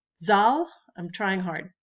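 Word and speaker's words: Zahl: students say no Miss Mariner it's and they pronounce it correctly it's zal I'm trying hard it's all so spelled z-a-h-l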